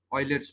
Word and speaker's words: Euler: German pronunciation है, German में इसको हम जो प्रोनाउंस करते हैं वो ऑयलर करते हैं।